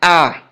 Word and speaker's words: hour: now for example an ah an ah you don't say an hour he said so therefore you are not pronouncing h though h is a consonant letter but the sound of